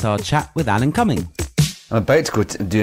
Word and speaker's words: Alan Cumming: So, a popular actor, well, maybe not popular, some people might not know him, Alan Cumming, that is exactly how it's pronounced and spelt.